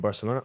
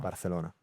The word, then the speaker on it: Barcelona: What's the correct pronunciation in in in Barcelona? Barcelona. Barcelona. Barcelona.